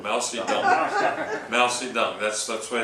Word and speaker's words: Mao Zedong: The T's pronounced with a D.